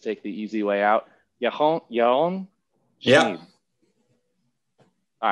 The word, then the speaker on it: Yaron Schmid: Yaron Schmid. Yeah. All right. I think like a B minus maybe on the pronunciation.